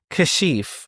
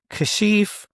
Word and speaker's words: Kashif: And it's just like, no, it's Kashif. And with my name, it's very unique because there's 4 ways you can actually pronounce it. It's Kashif, Kashif, Kashif, and Kashif.